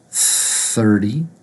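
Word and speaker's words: thirty: tongue between the teeth the second T is actually actually going to be pronounced with a D sound so it's 30 same way with 40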